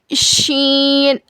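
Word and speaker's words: شين: Scene scene के बाद देखिए शीन शन शन का क्या मखरज है? ज़बान के बीच के हिस्से को ऊपर के तालों में लगाने से शीन अदा होता है।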